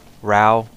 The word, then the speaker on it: Rao: i made sure the the official mr chugga conroy himself calls her rao so that's that's what i go by that's what i go